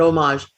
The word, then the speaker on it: homage: believe it is we that's why the h is silent okay all right john